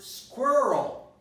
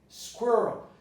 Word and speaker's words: squirrel: Now we go to the word squirrel. Squirrel. Now this ending of the word is difficult because of the L sound and the R sound. So squirrel, squirrel. And I can also eliminate the schwa here, or the neutral vowel. I can say squirrel, squirrel, without saying squirrel, squirrel. But I can never say squirrel, squirrel, or squirrel.